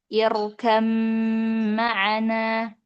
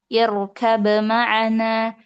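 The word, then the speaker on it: ارْكَب مَّعَنَا: Di sini Imam Asim dengan kedua rawinya itu membaca huruf ba itu dengan mengidgamkannya kepada huruf mim sehingga menjadi irkam maana.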